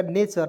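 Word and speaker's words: nature: दोस्तों बिल्कुल ध्यान से यदि किसी वर्ड में टी के बाद यू आर ई हो तो टी का उच्चारण च के रूप में करें जैसे टी यू आर होगा तब ठीक है जैसे य आप देखिए एन ए टी यू आर ई तो एन ए को लिखेंगे ने लिखेंगे टी यू आरई को चर लिखेंगे तो हो जाएगा नेचर नेचर मींस होता है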